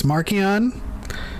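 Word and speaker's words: Marchion: like the round table they're like okay it's markian it's niall also leox is matthew mcconaughey so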